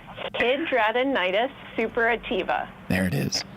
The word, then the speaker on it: Hidradenitis suppurativa: Hidradenitis suppurativa. There it is. Hidradenitis suppurativa.